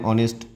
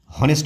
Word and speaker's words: honest: তারপরে অ্যান অনেস্ট ম্যান, HONEST, অনেস্ট ম্যান মানে সৎ ব্যক্তি। হ্যাঁ, তাহলে সৎ ব্যক্তি অনেস্টের এটা কী হবে, হনেস্ট হবে না, অনেস্ট হবে, এইচটা বাদ, এটা সাইলেন্ট, তাহলে ONEST, তাহলে কি